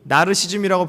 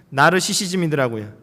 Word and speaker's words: 나르시시즘: 우리가 흔히 나르시즘이라고 불러왔는데 정확한 명칭은 나르시시즘이더라고요.